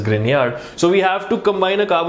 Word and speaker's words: Grignard: Yes, Grignard बोलते हैं लोग उसको, but that guy's pronunciation is Grignard.